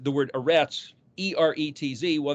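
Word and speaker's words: ארץ: uh like the word a rats e-r-e-t-z well that's because it starts with an alif alefresh zadi and it's like eh it's kind of kind of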